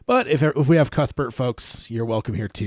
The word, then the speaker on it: Cuthbert: the pronunciation of it so it makes me think that cute Bert is the right way but if we have cuthbert folks you're welcome here